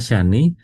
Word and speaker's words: Shani: Syani adalah Syani ini cara bacanya adalah Syani memusuhi Mun dan Surya.